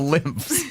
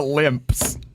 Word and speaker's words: lymphs: and like drain it the lymphs not the limps that's an f f sound at the end the limps sorry the